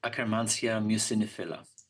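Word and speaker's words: Akkermansia muciniphila: How do you pronounce that? Akkermansia mucinifila.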